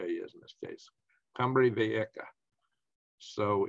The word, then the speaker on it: Cumbre Vieja: Yeah, and that's pronounced like a K, a J is in this case, Cumbre Vieja.